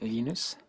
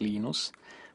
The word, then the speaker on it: Linus: Linus or Linus? What's your preferred pronunciation? When I speak Swedish, it's Linus. When I speak Finnish, it's Linus. When I speak English, it's Linus.